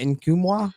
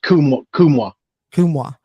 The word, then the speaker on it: Nkumwa: in the past, and Olivier, how do you pronounce that? Nkumwa? Is that how it is? Just Kumwa. Okay, so yeah.